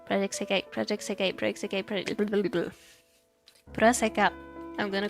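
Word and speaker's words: プロセカ: Puraseka. I'm gonna call it that, Puraseka. Or is that how it's pronounced in Japanese? Paraxai? No, it's literally Puroseka.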